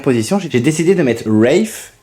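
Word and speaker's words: Rafe: j'ai décidé de mettre Rif ça s'écrit RAF mais ça c'est dit Rif version américaine il me semble toujours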